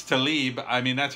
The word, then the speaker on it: Tlaib: his comments, first off, her name is Rashida Tlaib, not Tlaib. I'm not sure how you're pronouncing that, because when you write something, it doesn't make a sound. So I think it's Tlaib.